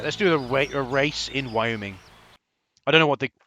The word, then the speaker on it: Wyoming: It isn't Wyoming, it's Wyoming.